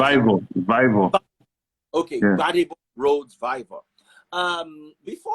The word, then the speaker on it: Vivour: How do you pronounce Vivour, Vivour.